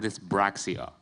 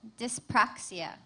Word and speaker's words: dyspraxia: Your word is dyspraxia. Dyspraxia? Dyspraxia. Dyspraxia or dysbraxia? Dyspraxia.